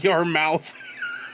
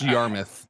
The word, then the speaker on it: Yarmouth: Mike's roast beef, your mouth. It's pronounced Yarmouth. It's Yarmouth.